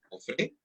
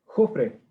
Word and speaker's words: Jofre: Sebastián, tu apellido se pronuncia Jofre. ¿Jofre? No, Jofre.